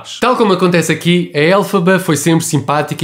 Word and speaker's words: Elphaba: A Cynthia Erivo é incrível no papel de Elphaba, cujo nome vem da pronúncia fonética das primeiras letras do nome do autor do Feiticeiro de Oz, L. Frank Baum, LFB, Elphaba, Elphaba.